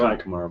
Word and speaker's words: Kai Kamara: Kai Kamara, by the way. Kai Kamara. I know I was saying his name wrong, but yeah.